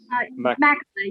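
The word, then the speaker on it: McElyea: We have Circuit Court Judge Tammy McEllery. Did I pronounce that correctly? Mackley, yes, sir.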